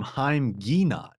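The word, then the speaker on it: Haim Ginott: So this quote from Haim Guinat, as I believe it's now actually pronounced correctly, is true that modern life is often like a rat race.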